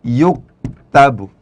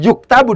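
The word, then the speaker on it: يُكْتَبُ: Ketika cara bacanya itu adalah dengan yaktubu, ya, itu beda dengan ketika cara bacanya dibaca yuktabu.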